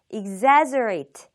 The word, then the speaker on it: exaggerate: 되겠습니다 발음이 살짝 어렵습니다 exaggerate exaggerate exaggerate 강세가 두 번째 음절에 오고요 exaggerate 강세를 받는 음절은 입을 옆으로 길게 보여서 이렇게 exaggerate 발음해 주시면 되겠습니다 이제 과장하다 의미가 있는